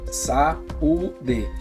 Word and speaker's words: saúde: Então, um exemplo, como que vamos separar a palavra saúde? Sa-u-de. Então, ela é acentuada no U, ela se separa. Sílaba tônica, ela se forma um hiato.